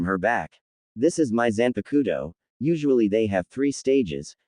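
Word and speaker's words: Zanpakutō: What's that Zanapowado thing? Eno asked saying it wrong. Zanpakudo Jera corrected and I'm not entirely sure.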